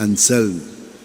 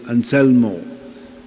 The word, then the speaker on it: Anselm: So he told us his name was Anselm. So the others could not get it. They said Anselmo.